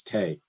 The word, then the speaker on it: Tay: People wanted to change my name to Ted because they couldn't pronounce Tay. It's one syllable. It's not complicated, right?